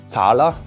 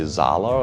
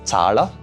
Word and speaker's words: Zahler: Craig Zahler. That's at least how you pronounce it in German. Americans want to say Zahler or something, but it's Zahler, right?